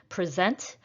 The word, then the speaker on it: present: my research this weekend present is a verb so i will stress the second syllable number five fans hurled